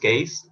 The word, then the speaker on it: Geez: How do I pronounce the title though? Is that Gaze? The Gaze. Or The Gaze. Gaze? Yeah. Just Gaze?